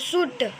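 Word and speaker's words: should: है L silent है तो शुड हो गया साइलेंट शुड ये क्या है टॉक टॉक एल के पहले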